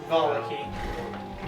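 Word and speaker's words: Vallaki: I say at the very least, try and get Arena to, how do you pronounce it? Valaki? Valaki.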